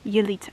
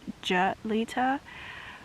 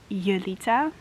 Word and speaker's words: Yulita: For a lot of English American people, my name is pretty difficult to pronounce because they think it's Julita, but it's actually Yulita.